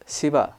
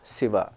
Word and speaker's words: Shiva: say uh and then let us take the word Shiva in uh Sanskrit pronunciation in telu pronunciation it is pretty similar Shiva but when you go to Hindi pronunciation you say shiv shiv G shiv it's never Shiva it it is it's right between sa and sha it's not closer to any of these you know it's it's right in between so you have to